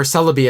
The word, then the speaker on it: Celebi: And Celebi, instead of saying Celebi, it goes Pokemon, but it's supposed to rhyme with Togepi.